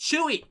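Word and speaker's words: Tzuyu: u y u and it's pronounced chewie freaking chewbacca from star wars but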